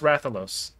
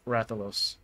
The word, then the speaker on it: Rathalos: By the way, it's pronounced Rathalos.